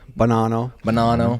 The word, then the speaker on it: Bonanno: BONANNO.